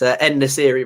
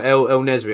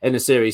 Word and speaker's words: En-Nesyri: It's En-Nesyri, mate. En-Nesyri. I always get it wrong. El-Nesri, I was calling, but yeah, En-Nesyri.